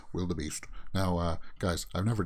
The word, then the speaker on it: Wildebeest: coasters from canada's wonderland the wildebeest some people mispronounce it as wild beast the wild beast but it's actually pronounced will the beast now uh guys i've never done anything like